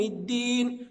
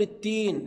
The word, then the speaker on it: الدين: وكلمة الدين البعض ينطق خطأ فيقول التين، لا، أنا عاوز حضرتك تنظر في المصحف، هي دال ولا تاء؟ حضرتك هتجاوبني دال، يبقى دي مالك يوم الدين، وهكذا.